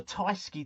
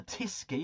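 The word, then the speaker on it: Tyskie: I'm on the Tyski tonight, or the Tiski, however you choose to pronounce it.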